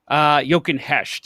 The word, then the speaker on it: Jochen Hecht: Jochen Hecht is how you say it.